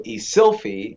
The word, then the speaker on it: Eszylfie: name like what are some of the weirdest pronunciations you've ever gotten yeah yeah so uh it's is an interesting name right my father is from ghana west africa so isilfie means son of god right so i got